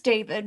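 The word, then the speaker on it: D4VD: I think I think you pronounce it David. His name's David, but he spells it really cool. D4 V D or something like that.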